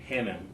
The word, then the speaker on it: Hannam: uh I have today with me Dr Paul Hanam did I pronounce that correctly yes sir perfect awesome awesome